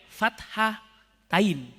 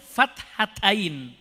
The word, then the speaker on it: fathatain: Cara bacanya nak boleh dipisah, gak boleh fathain. Tapi harus digabung fathatain ya.